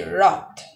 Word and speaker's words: wrought: watch you see that the first letter w is not pronounced and it is silent so it will be wrought roth so the another